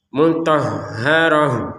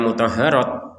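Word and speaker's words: مطهرة: Maka kita berhenti maka utufanya terganti menjadi terbaca ha mutahaharah seperti itu. Jadi jangan dibaca mutaharat. Mutaharat ya. Taharat itu kalau ta seperti ini baru dibaca mutaharat. Tapi kalau t-nya seperti ini dibaca sebagai huruf ha.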